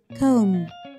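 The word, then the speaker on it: comb: مشط بالإنجليش يعني كوم كوم، البي اللي في آخر الكلمة سايلنت مش بننطقها.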